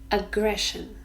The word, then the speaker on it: aggression: look closely at aggression aggression three syllables ah gray shown here the Shh sound sure so three syllables and we stress the second one aggression it's a noun and